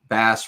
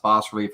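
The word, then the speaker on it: bas-relief: you know different terms I like the term bass relief uh boss is probably pronounced boss relief I call it Bass but boss relief b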